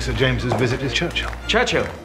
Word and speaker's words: Churchill: Churchill? That's how you say it. Altogether like that. I'd heard church and hill, but couldn't find either.